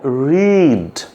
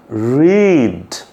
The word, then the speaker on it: read: এটা উচ্চারণ করার জন্য আমাদের প্রথমেই আমি আপনাদেরকে যেটা বলবো সেটা হলো যে ভেড়ার যে ডাকটা আছে এ, ঠিক আমাদের প্রথমে এরকম একটা উচ্চারণ করতে হবে।